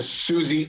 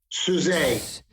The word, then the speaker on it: Suze: Unlike a Dave Ramsey and a Susie Orman, I am a licensed I believe it's pronounced sousaphone. Suze.